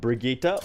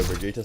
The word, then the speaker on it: Brigitte: like whatever you prefer not actually a hundred percent how you're supposed to pronounce that name daddy Jeff in the overwatch the overwatch introduction video basically called her Vegeta so I'm gonna call her Bridget there's pre-k that sounds it's a Swedish name it's not something that